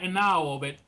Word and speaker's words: Enaohwo: of your name well let me correct you it's and now of it yeah I'm sorry well